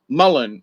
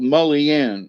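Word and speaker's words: mullein: know it's like uh folks around here call it mullen where other folks call it mullian as that's how it's spelled uh but you know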